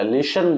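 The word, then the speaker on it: listen: बोला जाता और लिसन लिसन में टी नहीं बोला जाता लिसन बोला जाता है देखो अगला है सेंटेंस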